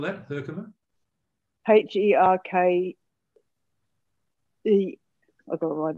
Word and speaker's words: Herkimer: This is a Herkimer diamond.